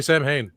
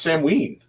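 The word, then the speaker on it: Samhain: do you know it don't say sam hay it's not I know it's not Sam ha it's Sam ween well there's three pronunciations based on Irish Scottish and Welsh I gotta bring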